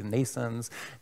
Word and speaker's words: NNAISENSE: trying to contribute to make that a reality nations nations which is about the birth of a neural network based ai so it's pronounced like nascent's birth however spelled in a